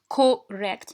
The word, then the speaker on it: correct: باسكو هنايا كي نجيو نكتبوها في لا transcription dictionnaire ما نكتبوش correct. No, we say correct with schwa.